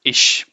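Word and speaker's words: ich: So how do you pronounce ish, right? So you know how to say dish. Just say dish without D. So ish. How do you say do?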